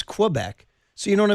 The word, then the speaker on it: Quebec: Quue bec and I said what? You're not French Canadian. She's like well that's how they say it. It's Quebec. I'm like no it's Quebec.